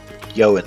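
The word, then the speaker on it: Ioun: i o u n yoan Stones I think the I is pronounced like a y i this pretty hard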